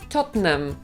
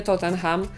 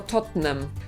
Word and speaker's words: Tottenham: Tottenham też brzmi Okej ale Anglicy mówią totam Totem więc jak będziemy rozmawiać z jakimś Anglikiem to nie Tottenham tylko Totem tak samo Przecież nie wymawiamy